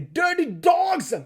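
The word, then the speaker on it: Dirty Dawgs: Les Dirty Dogs. Je prononce comme ça parce que c'est D-A-W-G-S.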